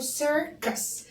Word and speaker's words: circus: اقوللكم بقى حاجه سيركس السي الاولانيه اتنطق اتنطق اتنطق سير السي التانيه اتنطق ك ايه الحدوته دي سيركس قاللك حرف السي لما يجي وراه اي او اي او واي اي او اي او واي بنطقه فسكس جه اولها بعديها اي فعشان كده هنا هنا هنا اطقت اما السي التانيه ج وراها